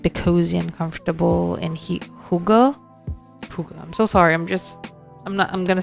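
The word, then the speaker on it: hygge: I actually butchered the pronunciation as Hidge, but it's actually like Huga.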